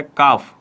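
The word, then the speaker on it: calf: मतलब काल्फ काल्फ बोल रहा हूं मैं, लेकिन इसका प्रोनाउंसिएशन क्या होता है, काफ। क्या होता है, काफ। इसमें एल आपका साइलेंट रहता है, एल क्या होता है, साइलेंट रहता है, काफ।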